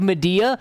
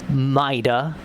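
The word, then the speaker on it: Maeda: Google searches later to tomorrow Studios to Steve Medea didn't say his name right that first letter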